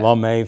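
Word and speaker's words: Lemay: But the firefighters and the EMS people know the name, and they pronounce street names a little differently sometimes. They do, Such as La May Ferry, which we would call Lee May Ferry.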